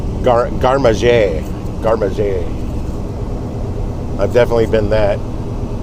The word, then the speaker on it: garde-manger: But it's like G-A-R-D-E, but it's pronounced garde-manger.